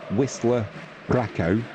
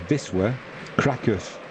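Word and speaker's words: Wisła Kraków: was also confused yeah in English we would say Whistler CCO but the actual pronunciation is Visa Kus BR bruing down the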